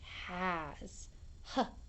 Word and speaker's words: has: This is the word has. H-A-Z. Has. It's spelled H-A-S. Has.